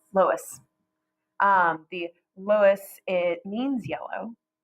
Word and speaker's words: Loess: Nope, not Laos, Loess.